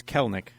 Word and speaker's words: Kelenic: And by the way, I mispronounced it. It's Kelenic.